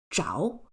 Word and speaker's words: 着: This word is pronounced as jao and it's used as a result complement.